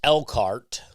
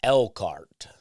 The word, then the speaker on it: Elkhart: I'm told it's Elkhart. They don't pronounce the H. It's spelled elk like the deer, and then H-A-R-T, Elkhart. But apparently it's pronounced Elkhart.